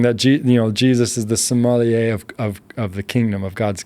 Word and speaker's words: sommelier: A sommelier, yeah. Sommelier, it's like the connoisseur, like where you can taste everything. And he was saying that Jesus is the sommelier of the kingdom, of God's kingdom, where he knows he is everything.